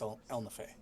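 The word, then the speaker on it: Ehlnofey: i have it spelled in my book it's pronounced el nafe okay so i will i i was right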